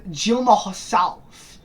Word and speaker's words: Dilma Rousseff: Then his vice president, I believe, or someone connected to Lula, the first female president, who's called Dilma Rousseff, or that's how you pronounce it.